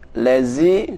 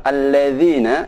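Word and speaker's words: الذين: sirotol ladzina an'amta alaihim memperhatikan pada huruf dza jangan sampai membaca Suroboyo lezit lazy tidak benar yang benar alladziina ingat cara membaca huruf dza ujung lidah sedikit dikeluarkan zat nanti dia belakangnya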